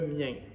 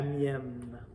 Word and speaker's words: mien: c'est ça la différence parce que mien et prononcé de la même façon c'est très nasal mien mais c'est ici le